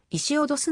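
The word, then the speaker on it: Ησίοδος: して知られる現在のギリシアではつづりは同じだが彼の名前は石脅すのように発音され 1939 年からギリシャ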